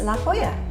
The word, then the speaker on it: La Jolla: realised how to say it correctly, which is La Jolla. The next one is coming up for you now. I still can't pronounce this the way the Americans pronounce it.